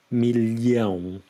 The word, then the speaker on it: milhão: And here we also have the LH sound, sound, which is very similar to the double L in million. So you've got a L sound, milhão.